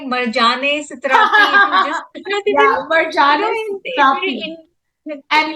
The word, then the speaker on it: Marjane Satrapi: which is a biographical diary of the author Marjane Satrapi. How do you pronounce it? It's Marjane, and I was like Marjane Satrapi.